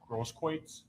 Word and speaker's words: Grosskreutz: Grosskreutz.